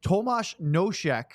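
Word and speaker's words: Tomas Nosek: about but Sam Thomas Tomas noek is how you pronounce his name he's been of course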